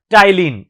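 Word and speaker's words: ptyalin: टाइलिन, P silent है इसमें।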